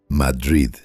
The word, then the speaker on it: Madrid: de Estados Unidos y se pronuncia con el acento en la primera sílaba, Madrid, no como la capital española.